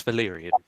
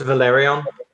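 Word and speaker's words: Velaryon: Yes, seahorse of House Valerian, Ah, if that's how it's pronounced. it's Valerion. Valerion, then. Yeah, Valerion. Because Valerian is the bloodline. Valerion is the family.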